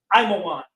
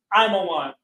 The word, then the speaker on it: Ammon: Moab equals Mawa'aba, means pronounced Mawa'aba, of his father, of his Abba, of his father. Ammon equals Imawan, equals Imawan.